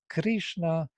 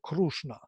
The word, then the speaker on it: Krishna: So this created the difference between Krishna and Krushna. Rig Veda and Rug Veda.